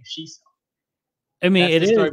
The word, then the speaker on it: Sheeso: But my real name is spelled S H E E S O. But if you pronounce X I X O, it's still Sheeso.